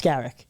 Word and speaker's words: Skarek: I mean, obviously a level up for Skarich. He literally leveled up into the NHL. If you could pronounce his name right, he'd appreciate that. Oh, is it Skarek? It's actually really simple. It's Skarek.